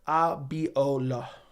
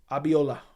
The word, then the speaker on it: Abola: five rounds we'll see it's pronounced Abola Abola with emphasis on L okay like with okay